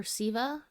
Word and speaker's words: Sethe: Um this is a story about Sethe, I think, or Sitha is how you say her name.